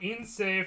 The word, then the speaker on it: Ince: So no, the E isn't pronounced at the end. Paul Ince.